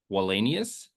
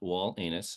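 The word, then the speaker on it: Wallenius: I have us taking Leo wenus um definitely not wall anus so I'm just making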